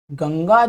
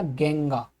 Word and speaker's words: गंगा: तो अंग्रेज जब भी गंगा को पढ़ेगा तो वो कहेगा गेंगा। ओके, क्योंकि हम तो फुल इसको जो ए है इसको क्या मान के चलते हैं, हम अ, इसीलिए हम पढ़ रहे हैं इसको गंगा, आ का साउंड लेकर के।